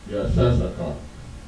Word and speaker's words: Issachar: This is how it's written in Hebrew. It is Yah, Shah, Shah, Ka, Ra. Yah and the first Shah are both connected. The second Shah is by itself. The Ka and the Ra are connected. And it is pronounced, and written phonetically, in this way, it is pronounced Yashashakar. Alright.